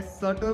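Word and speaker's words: subtle: की बात की जाए सटल बोलते हैं बी इसमें सेंट रहता है लिखते टाइम बी लगा देना एस यू बी टी एल ई बी हट जाएगा बोलते टाइम सटल बोलेंगे सटल वर्ड में बस आपको लिखते टाइम बी का ध्यान रखना है बी इसमें लगेगा क्योंकि बोलते टाइम बी साइलेंट रहता है नेक्स्ट वर्ड आपका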